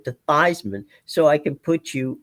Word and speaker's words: Theismann: of your name to Theismann, so I can put you on the cover of our, press guide as Theismann for the Heisman."